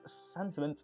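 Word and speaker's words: Santiment: In a recent tweet, Sentiment underscored. Yeah, they've got a fun name, haven't they? Sentiment. It's supposed to be sentiment, but it's spelled it.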